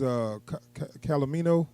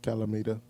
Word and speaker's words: Calamita: So and then next out that brings Calamino. Is that how to say his name? Calamita.